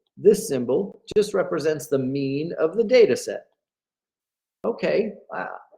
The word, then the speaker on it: mu: it's actually the Greek letter me which is pronounced like that me it's lower case Greek letter mu and what that is that's going to be